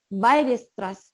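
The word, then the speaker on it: Weierstrass: dice que es y fx continua cómo se pronuncia bailes atrás porque creo que alemán me avisan si estoy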